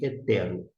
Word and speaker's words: ἕτερος: Por que eu não, eu falo htero e aqui mencionei hetero? Porque no primeiro éilon, que é equivalente ao e, nós temos uma aspiração áspera. E por conta disto, eu agora que atentei, prestei atenção melhor, a gente vai ter que pronunciar como ré. Coloca um R na frente ou um H em inglês, mas no segundo o